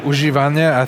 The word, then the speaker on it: używane: Yeah, we've got Ford używane. I hope I pronounce it properly.